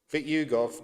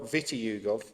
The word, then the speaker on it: Vitiugov: Vic Yugov not Vitugov.